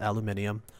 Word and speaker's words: aluminium: jeweled aluminium right yes I'm American but I still pronounce it as aluminium just because that's how it's spelt out but clay electrolysis when